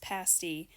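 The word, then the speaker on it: pasty: Now, I know this word looks like the word pasti, but it's pronounced pasti, and apparently it's an upper peninsula thing.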